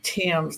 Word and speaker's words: Thames: proud to be here I pronounced my last name Tims like the Tims River in England it's really different and